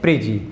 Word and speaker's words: प्रीजी: अपसौर को बोलते हैं अपोजी और इसको बोलते हैं प्रीजी, या फिर कभी कभी इसका उच्चारण अपोगी और प्रीगी के इसमें भी किया जाता है।